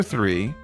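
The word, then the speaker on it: three: Now, for number 3, this one starts with a th sound. It's spelled T-H-R-E-E. The 2 E's at the end make a long E sound.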